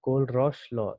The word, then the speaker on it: Kohlrausch: इसका प्रोनाउंसिएशन सुन लीजिए, कोलरॉश लॉ, एच यहाँ पे साइलेंट होता है, ठीक है, कोलरॉश का लॉ।